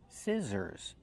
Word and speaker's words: scissors: We use the short sound like this is s scissors. The middle consonant is the z sound like zebra. Make the voice zissors plus the sound like burger.